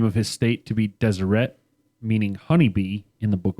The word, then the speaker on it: Deseret: Are you sure this state is supposed to be pronounced Deseret, Nope. not Desiree? It's Deseret.